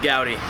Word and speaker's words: Gouty: Nate Gowdy.